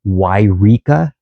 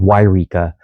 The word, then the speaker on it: Yreka: There is a Yreka, and it starts with a Y, and a Eureka, which is on the coast.